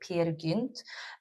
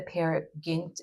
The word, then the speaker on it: Peer Gynt: Um it depends like I'm Swedish, so I would I would pronounce it Peer Gynt, but I don't know how it would pronounce it in Danish.